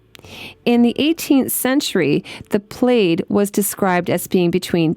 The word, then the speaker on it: plaid: It looks like the word plaid, but trust me, it's pronounced plaid.